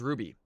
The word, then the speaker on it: RWBY: Was pronounced Ruby. Oh, pronounced just pronounced Ruby. Okay. Did this they just happen to switch the W for U for a W?